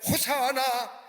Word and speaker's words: 호산나: 그리고 많은 무리들이 예수님의 뒤를 따라서 호산나 호산나라고 외칩니다. 호산나라만 우리나라로 표현하면 만세 만세라고 하는 의미가 담겨져 있습니다. 히브리 원문대로 발음하자면 호사나, 우리를 구원하소서, 아니 지금